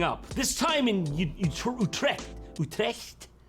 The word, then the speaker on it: Utrecht: a dutch guy saying you trek for god's sake how do you say it i know it's not that utrecht you're tracked yeah that's the one that's the official pronunciation sorry netherlands i'm gonna